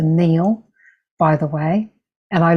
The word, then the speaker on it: Nile: But the Nile is actually correctly pronounced the Neil, by the way. And I learned that from when I was in Egypt in Cairo. It's pronounced Neil.